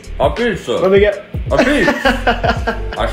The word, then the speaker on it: apizza: ah-beetz. Apizza. Let me get. Apizza. I still can't pronounce it right.